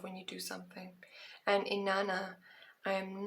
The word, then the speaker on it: Inanna: Inanna, pronounced Inanna, was worshipped by the ancient Sumerians.